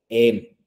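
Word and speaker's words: 円: La forma correcta de pronunciación sería en. ¿Sí? En. Por eso aquí diciendo cuesta 80 yenes. ¿Sí? Y no hay plurales, entonces dice únicamente como enes, ¿no?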